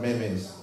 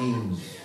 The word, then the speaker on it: memes: you know what memes it's not Mimi and it's not mes pronouncing means that's what we're doing